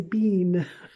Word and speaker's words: been: been it had been now remember i'm using an american pronunciation if you're trying to do british english and you need a british english teacher because they say bean okay i hope that